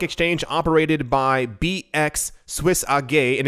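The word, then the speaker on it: AG: operated by bx swiss a gay and if you wonder why i keep saying a gay for the letters a g is because in german it's pronounced and therefore every time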